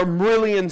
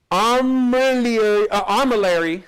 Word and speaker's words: armillary: Let me pronounce that right. That'll be that one comment that keeps filling the thread. You didn't pronounce it right. Still not getting it, huh? Armillary, there it is, armillary sphere. Okay, what is it?